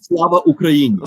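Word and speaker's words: Слава Україні: Slava Ukraini.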